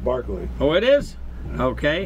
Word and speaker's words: Berkeley: But it's pronounced Barkley.